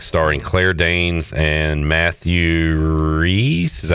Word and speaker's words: Rhys: New show on Netflix starring Claire Danes and Matthew Rhys. Is that how you say it? The guy from The Americans. Oh, I need older people to talk to. Is it R-H-Y-S? Yeah. Yeah, it's Reese.